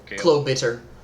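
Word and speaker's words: Klobitr: good yeah uh Klo Chloe bitter uh k-l-o-b-i-t-r is his name it's a little bitter everybody is better person b-i-t-t-r b-i-t-r-1t yeah that's a spider there's no e it pronounces it better he's weird he's a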